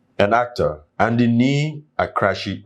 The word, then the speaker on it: Akrashie: Ghanaian musician and actor and in need a crashy right that's how you pronounce it that's she popularly known as OJ black has passed on at the age of 40.